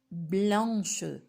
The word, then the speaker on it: blanche: Blanc, blanche. Alors ici, il y a une grande différence dans la prononciation et dans l'orthographe.